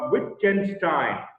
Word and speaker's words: Wittgenstein: major philosopher here is ludwig with wittgenstein it's pronounced with ken stein he was an austrian born man who worked